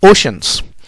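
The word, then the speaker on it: oceans: देखिए इसको ओशियन लिखते हैं, लेकिन बच्चे इसको ओशियन ही पढ़ते हैं, जबकि इसकी सही प्रोनाउंसिएशन है ओशंस।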